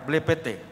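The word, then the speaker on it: βλέπετε: Ya, bukan belepotan ya, blepete. Yang dalam bahasa Yunani lebih bermakna melihat, mencerap.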